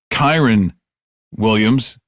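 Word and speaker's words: Kyren Williams: And by the way, it's pronounced Kyron Williams.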